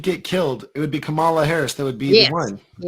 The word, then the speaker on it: Kamala: It's like comma, like a comma. Yeah. Kamala.